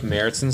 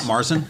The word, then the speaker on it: Märzen: Märzen, yeah. Is that how you pronounce it? It's not Marzen? No, it's Märzen.